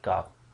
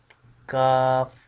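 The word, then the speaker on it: قاف: here, so this is the exact place to pronouncing this letter Qaaf. Now we are just going to practice of this letter, so you listen carefully and then try yourself. Qaaf, Qaaf.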